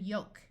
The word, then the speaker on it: yoke: these patterns it will have a long o sound like in Gold bolt and yoke notice the L in this word is silent we have also learned